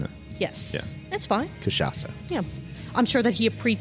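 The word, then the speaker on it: Cachaça: Kashasa. Yeah, I'm sure that he appre appreciates your correct pronuncification.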